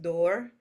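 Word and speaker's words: Duir: go over Oak and Oak is pronounced door and it does sounds close to a door so it's the door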